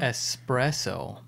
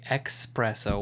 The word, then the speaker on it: espresso: the next how embarrassing espresso some people say expresso with an x i feel like if